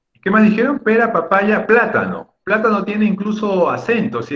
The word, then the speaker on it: plátano: entonces desde una estrella y plátano es esdrújula y si no lo